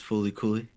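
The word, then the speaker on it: FLCL: at number 10 uh L LCL it's pronounced fully Coy okay can you guess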